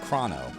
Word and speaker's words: Chrono: stream that's awesome so how do you pronounce Chrono the wrong way of krono or the correct way of Chrono no I mean I'm